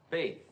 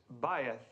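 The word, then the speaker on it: בית: Faith. Well, almost right, Mr. Crane, thank you. The correct pronunciation is bayeth.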